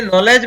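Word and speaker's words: knowledge: इसी प्रकार ये नॉलेज में यहाँ पर के साइलेंट रहता है, ये ध्यान रखना है। इस शब्द में के साइलेंट रहता है, उसको नहीं पढ़ा जाता और इसको सीधा एन ओ से पढ़ते हैं कि नो, फिर डब्ल्यू से अ मान लो या साइलेंट रहता है, फिर ले और डी साइलेंट रहता है और ज, तो इसको पढ़ेंगे नॉलेज। नेक्स्ट है कुछ शब्दों में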